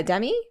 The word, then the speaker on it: Demi: thank you for joining me today and it's pronounced uh dummy yeah okay great um i have been butchering